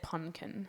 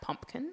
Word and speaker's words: pumpkin: can get confusing though I have a friend that said pkin instead of pumpkin oh that's really cute though so if you're out there and you don't know how to say it it is in fact pumpkin with an m a pleas what about